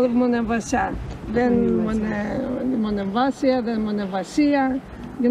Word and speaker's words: Monemvasia: How do you say it? Monemvasia or Monemvasia? Monemvasia. No, it's not Monemvasia. A lot of people, they call it both ways.